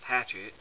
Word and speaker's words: Hachette: france that is called i guess in english it's pronounced hatchet um and this is